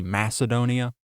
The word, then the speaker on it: Macedonia: Maybe you're not going to pronounce Macedonia with that hard sound. Maybe you're going to pronounce it with a more traditional modern English pronunciation, which is that soft C Macedonia. The reason I pronounce it with the hard Macedonia sound is because that's how Alexander the Great would have pronounced it.